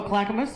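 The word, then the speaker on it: Clackamas: in how how do you how do you pronounce it CL oh Clackamus yeah oh that was not till 93 I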